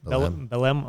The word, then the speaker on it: Belém: then we flew to Belém. Is that how you say it? Belém? Okay. Yeah. I've been saying it wrong for like 3 years now.